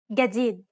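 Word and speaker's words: جديد: Egyptian media and movies in Egyptian Arabic this letter is pronounced like a regular English G as in game let's listen to the difference one more time in standard and an Egyptian gadid of course both pronunciations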